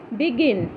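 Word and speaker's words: begin: গ উচ্চারণ হইছে গিফট বিগিন জি এর পিছত আই আছে কিন্তু আমি গ উচ্চারণ করি বলে লাগিবো ইয়াতে বিগিন হইছে জি ই টি গেট জি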